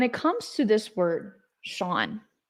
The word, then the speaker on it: Sean: Now, when it comes to this word, Sean, I so bad every time want to say Sheen. So bad. Why? Because there's no W, there's no H in Sean, but that's how you pronounce it.